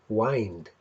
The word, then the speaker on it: wind: wind used to be pronounced more like wind as in find it had a longer vowel sound which was pronounced in a lower place in the mouth in its mind compared to its modern pronunciation the oxford english dictionary